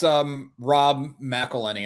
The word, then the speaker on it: Rob McElhenney: Yeah, that's Rob McElhenney, I think is how you say it.